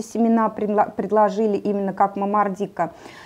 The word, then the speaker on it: момордика: всевозможных названий можно привести правильное название это момордика или момордика вот сразу об этих двух вариантах произношения по-латыни ударение на второй слог момордика но у нас средней полосе как-то вот принято называть именно момордика и я от скольких